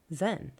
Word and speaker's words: Zen: the most important is the Sanskrit Diana mispronounced in Chinese as Chan and again mispronounced in Japanese as Zen thedas never got involved